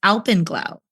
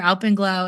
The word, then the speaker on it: alpenglow: And one of the locals here was like, oh, that's Alpyn Glow. That's called Alpyn Glow, and it's spelled ALPENGLOW.